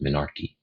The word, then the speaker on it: menarche: But just know the very first period a young girl has is called her menarche, or again, it can be pronounced menarche.